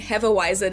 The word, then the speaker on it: Hefeweizen: If you get Weizen right, you're already 10 steps closer to how we say this in Germany. Now, as I said earlier, you're obviously allowed to keep saying Hefeweizen if you want to, but just a heads up, if you're ever in Germany and try to order it like that, they might not understand what you're saying right away.